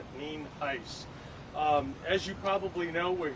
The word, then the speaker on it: Nienhuis: It is spelled Nienhuis and it's pronounced Nienhuis.